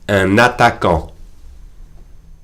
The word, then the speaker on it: un attaquant: And I'm making the liaison between the N, which is usually silent, and the A. Un attaquant.